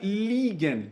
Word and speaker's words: liegen: Assim como nós temos o verbo legen, cuidado com a pronúncia, que é e aqui é i. Nós temos também o verbo liegen.